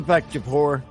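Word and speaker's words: Deepak Chopra: his name is deac chapara there we go chap de Deepak chapor yeah Deepak that's what I said Deepak chapor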